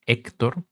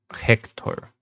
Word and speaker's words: Héctor: Por ejemplo, mucha gente que conozco europea y estadounidense, en vez de decir mi nombre como Héctor, lo dicen como Hector. Siempre pronuncian la H sin importar qué.